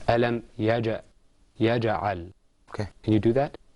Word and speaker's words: يجعل: ألم يجعل كيدهم في تضليل. Okay, let's practice the qalqala there. Okay, it's ألم يجعل.